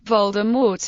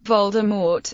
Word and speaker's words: Voldemort: According to an interview with Rowling, Voldemort is pronounced with a silent T at the end, as in the French word mort, meaning death.